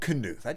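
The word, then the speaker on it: Knuth: talk about him also that is how you pronounce his name which is unnatural for me because if that's how I pronounce all words like that then my name would be far night but it's not it's far night anyway there are few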